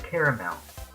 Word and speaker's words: caramel: How do you pronounce caramel? With 3 syllables.